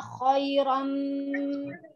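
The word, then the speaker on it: خَيْرًا: Khairan pertama kho-nya tebal. Jadi ya kha, kho. Kedua ro. Ro-nya juga harus tebal. Khairan. Nah, tadi Ibu Sri bacanya khaira. Ro-nya jadi itu ro-nya ro tipis kayak baca waras itu khaira. Khairan.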